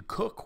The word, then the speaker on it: Cook: Have a Captain Cook, which rhymes with look, in the library.